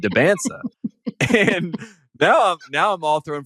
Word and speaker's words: Dybantsa: like, he liked that you knew how to pronounce the name right. Like he he really appreciated that I said Dybantsa.